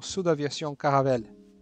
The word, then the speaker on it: Caravelle: o sul da Viação caravele no Brasil nós pronunciamos Caravelle e essa belíssima maravilhosa